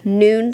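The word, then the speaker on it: Nuun: about how I take electrolytes I do the noon tablets every time I talk about it somebody asks noon tablet is spelled n-u-u-n you can find them on Amazon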